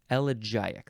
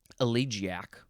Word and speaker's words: elegiac: it right number one a poem in elic couplets elic that's how you say it um now some people might want to say allec that's fine too a poem an El